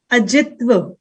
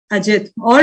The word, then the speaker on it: Ajit: now Saki Shambhabi and Ajit okay he's saying my name is pronounced as Ajit all right good morning Ajit and your email id says it's Ajita all right very Good